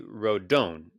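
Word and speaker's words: Rodón: like in Spanish, it would be Rodon, and the accent is on the second.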